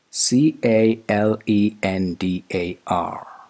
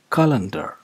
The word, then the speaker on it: calendar: you to start with it's not calendar it's calendar calendar the first vowel sound is not it's and the second vowel sound is not sure it's not a it's e e calendar calendar yes there is a